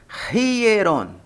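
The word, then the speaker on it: ἱερόν: Então você não pronuncia hieron, mas sim hieron. Hieron. Como se houvesse um R, semelhança com o inglês, que o H tem som de R.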